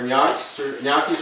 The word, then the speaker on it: gnocchi: and my grandmother, who's Italian, she called these gnocchis, but I'm hearing the pronunciation is gnocchi.